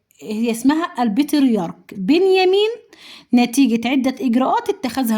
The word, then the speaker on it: البطريرك: البطريرك بنيامين، مش البطاريق بنيامين، لا البطريرك، عشان تنطقوا الاسم صح عشان تقدروا تكتبوه صح. في كتير بينطقوها زي ما انا قلت كده في الاول، لا هي النطق الصح زي ما انا قلت لكم.